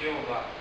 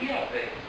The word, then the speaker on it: Yahvé: lá de Yahvé e Jeová. Sim, tem uma seita que defende essa tese. Sim. Que na verdade a pronúncia correta é Yahvé, sendo que os judeus eles não ousam pronunciar o nome de Deus.